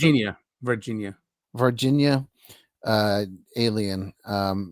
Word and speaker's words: Varginha: Is it, how do you pronounce it? Varginha.